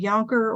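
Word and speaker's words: Yankauer: example some facilities use a Yonker or sometimes it's pronounced Bianca or suction tip that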